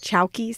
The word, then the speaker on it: chowki: these small tables chalkies yes chalkies that's how you pronounce it c-h-o-w-k-i c-h-o-w-k-i yeah and i'll tell you